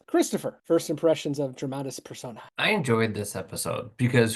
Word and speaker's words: Personae: So now we're going to go ahead and dive into Dramatis Personae. I said persona last week and I realized I said it wrong.